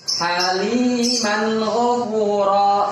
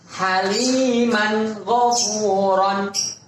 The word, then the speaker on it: Haliman ghafura: Contoh, haliman ghafuran. Lagi, haliman ghafuran. Jangan dibaca haliman ghafura. Salah. Yang benar haliman ghafura.